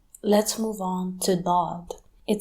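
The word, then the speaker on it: ضاد: When you pronounce a D in English, the tip of your tongue touches your front teeth. Now, move the tip of your tongue a little bit back and pronounce D again. That is Dad.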